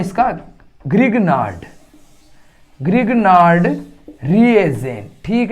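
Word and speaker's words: Grignard: क्या नाम है इसका, ग्रिग्नार्ड रिएजेंट। ठीक है, और हमारे हिंदी में इसको बोलते हैं ग्रिन्यार। ठीक है, देखो इंग्लिश नाम है, हिंदी नाम है, थोड़ा सा डिफरेंट है और स्पेलिंग पे है, तो इसको बोलेंगे ग्रिन्यार अभिकर्मक।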